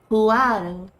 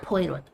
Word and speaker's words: Poirot: Puado. Okay, thank you. Puado. Not Poirot.